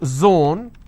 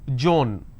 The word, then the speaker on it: zone: example if i have the word zone they pronounce this as john if i have the